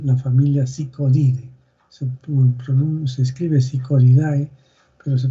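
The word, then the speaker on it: Psychodidae: Se escribe Psicodidae, pero se pronuncia Psicodidae.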